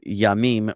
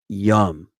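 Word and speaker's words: ים: The singular of yamim, meaning seas, is this word. No. Is this word. Okay. Which in Sephardic Hebrew and modern Hebrew would be pronounced yam, and in Ashkenazic Hebrew and Yemenite Hebrew would be pronounced yum.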